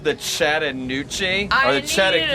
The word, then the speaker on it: Chattahoochee: pronounced the Chattanoochee I or the need you to shut your beautiful mouth. Oh, hey, down yonder. The Chattahoochee.